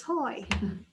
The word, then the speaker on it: Hoye: so hi i'm hoye and it's pronounced hoy like joy like toy like boy i am the owner